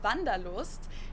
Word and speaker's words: Wanderlust: This is Wanderlust, kind of an yeah, old-fashioned German word that we pronounce Wanderlust, and it's literally the desire to wander.